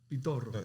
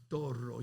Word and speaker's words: Pitorro: Look how you say the name, Pitorro. Yeah, I ain't heard one person come on here and say it like that yet. Yeah, because he's Spanish. Pitorro.